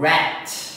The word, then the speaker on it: rat: 근데 뒤에 T 발음을 해줘야 돼요.